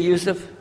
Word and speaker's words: Yusuf: my name is Yousef can you say Yousef you say Yousef you're very good I wish you teach my wife she keeps mispronouncing it she calls me useless alhamdulillah now